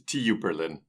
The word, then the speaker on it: TU Berlin: Technical University in Berlin the TU Berlin Tu Berlin that's how the cool kids say it so I'm going to say it like that at T Berlin was